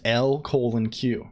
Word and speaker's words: LCOLONQ: could say you could know you know it's pronounced L colon Q right that doesn't fit like for me like